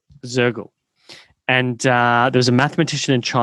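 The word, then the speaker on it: Soergel: So you've worked with some really interesting people, Ben Elias, I think Wolfgang Sergel, is that how you pronounce his name? Mm-hmm. Sergel or Shergel? Sergel. Zergel.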